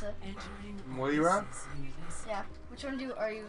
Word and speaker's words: Moira: I added Junkrat and Moria. Can't pronounce it. Moira?